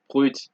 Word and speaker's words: brut: you see in French, you generally don't pronounce D's, P's, S's, T's, or X's. However, there are a few exceptions, just a few, such as sud, cap, slip, fils, bus, brut, ouest, huit.